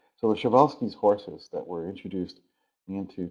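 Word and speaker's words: Przewalski: all shal's horses it's I know it's spelled like it should be pel's horse but it's actually shal's horse it's a Polish name and so the um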